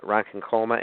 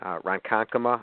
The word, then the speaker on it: Ronkonkoma: Long Island in the Rankin Colma area and I know I said that wrong Ronkonkoma I think that's how they say it gave me some credit